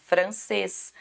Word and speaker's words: francês: Então, nós tínhamos que buscar a oxítona, francês. O cês é a sílaba aí mais forte, igual o soufflé, ok?